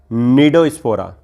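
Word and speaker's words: Cnidospora: Next सब phylum है निडोस्पोरा, इसमें सी साइलेंट रहता है।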